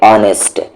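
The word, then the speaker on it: honest: का तरीका अलग है उसी तरीके से ऑनेस्ट लिखने का तरीका अलग है लेकिन बोलने का तरीका अलग है यानी कि एच यहां पर साइलेंट है उर्दू में भी एक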